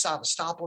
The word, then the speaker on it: Sevastopol: So when there's a naval base, Sevastopol or Sevastopol, pronounced Sevastopol in Russian, naval base from the time of the Russian naval base from the time of the Tsars.